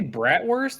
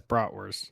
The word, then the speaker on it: bratwurst: Do you say bratwurst or broughtwur? Well, I was just reading it. It says brat, but brought Well, it's spelled it's spelled bratwurst, right?